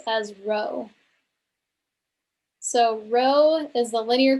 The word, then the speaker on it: rho: ask well it's this symbol here which we pronounce as rho if you calculated density before in a chemistry class for example then you would have seen this notation that we pronounce as rho so rho is the linear correlation coefficient for